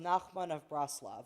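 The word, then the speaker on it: Nachman of Breslov: And it's pronounced Nakman of Braslav.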